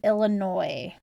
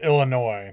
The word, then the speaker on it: Illinois: sixth highest and it's behind um Ohio and Illinois Illinois Illinois sounds weird it's fine just say